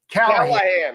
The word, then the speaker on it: Callahan: Is it Callaghan or Callahan? help me out. How do you pronounce it? Callahan. Okay, great. Because I didn't know if the G is silent.